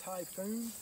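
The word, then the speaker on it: Tajfun: one size larger than this this is a typhoon it's spelled Taj fun but pronounced typhoon it's a three-point hitch mounted forestry winch designed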